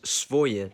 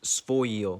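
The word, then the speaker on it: своё: It's written as svoye, but it's actually pronounced svoyo.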